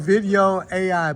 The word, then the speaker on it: Vidyo.ai: It's called Video AI, but it's spelled V-I-D. It's spelled, thank you. It's spelled VIDYO.AI. There you go.